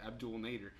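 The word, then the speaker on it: Abdel Nader: that's good so that's how I saw the Abdul Nader that's how you pronounce it Abdul this has to be the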